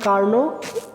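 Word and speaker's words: Carnot: এরপর দেখো এটা হচ্ছে কি কার্ন, এখানে নট লেখা আছে কিন্তু উচ্চারণ হবে কি কার্ন, বাংলাতে লিখবে কার্ন হিট ইঞ্জিন।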